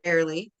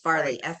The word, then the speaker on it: Farrelly: And it looks like it's pronounced fairly, but it's Right. Farley, Farrelly.